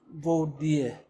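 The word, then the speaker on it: voir dire: So my lawyers in the first place, they decided to file for VODIE. VODIE is spelled VOIR and DIER or something. That's I think Latin, I think.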